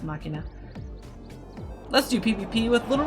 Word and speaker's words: machina: inna cinema monomakh Ian I think it's machina sounds actually pronounced machina let's do PvP with